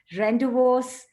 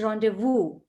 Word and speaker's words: rendezvous: away it is not rendezvous or rendezvous it's a french word it's rendezvous okay it's woo okay